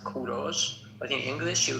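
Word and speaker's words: کوروش: English people call him Cyrus, but in Persian we call him Kuros. In Persian it is pronounced Kuros, but in English you call them call him Cyrus.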